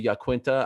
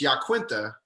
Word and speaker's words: Iaquinta: me up every time i think that's how you're supposed to say my name oh really i think he says it right okay what is it a russian name no it's it's an italian name but i think it's yaquinta it's not okay you